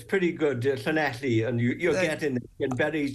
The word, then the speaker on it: Llanelli: And one of them is the Stradey Park Hotel in Llanelli. That's not a very good pronunciation, is it?